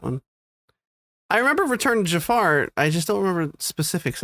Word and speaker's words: Jafar: Anyway, she pronounces Jafar ever since I was a kid as Jaffer.